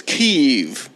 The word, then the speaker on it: Kyiv: I just wanted you And to of feel- course, the correct pronunciation is Kyiv.